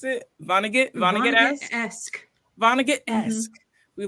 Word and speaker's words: Vonnegut: awesome that's so cute wait how do you pronounce it Vonnegut Vonnegut yes Vonnegut asked we love to see